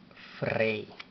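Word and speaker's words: ፍሬ: Y para dar sonido a esta vocal diríamos EY, para mantener el sonido que da la palabra rey.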